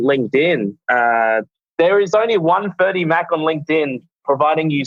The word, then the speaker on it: Ferdi Mak: There is only one Ferdie Mack on LinkedIn, providing you spell my name correctly. If you spell it F-R-E-D-I, you're probably not going to find me. Not Freddie. So F-E-R-D-I-M-A-K, 2 words.